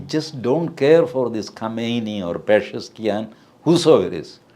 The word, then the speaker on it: ഖമേനി: സി ഇറാന്റെ സൈന്യമല്ല ഇറാനിലെ ആ കമേനി ഉണ്ടല്ലോ കമനൈ എന്നും വായിക്കും കമേനി എന്നാണ് ശരിയായ ഉച്ചാരണം എന്ന് തോന്നുന്നു എന്ത് വായിക്കോട്ടെ ആ മനുഷ്യൻ